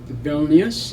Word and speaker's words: Vilnius: Today it's called Vilnius, it's spelled V-I-L-N-U-S, which is capital of Lithuania.